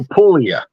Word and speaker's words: Puglia: I'm just helping you you don't pronounce the G in Italian I don't we never we don't even know why it's there okay yeah it's just guacamole yeah uh so pulia yeah pul Castell Del